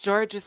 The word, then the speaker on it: Georgious: Because it's Georgious like gorgeous. Okay, that means it rhymes with that fine.